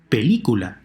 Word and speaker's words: película: Película, hear it? The 3rd to last syllable is stressed.